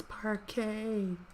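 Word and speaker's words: Parkay: It's parquet.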